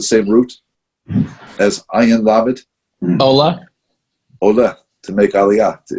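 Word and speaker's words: עול: The way you say yoke in Hebrew is ol. Ayin vav lamed. Ayin vav lamed. Ol.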